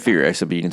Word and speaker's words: Furiosa: The reason I knew about Mad Max before I'd seen like something like Furiosa was like other shows and movies, like Rick and Morty has like a whole like episode where they do the Thunderdome bit.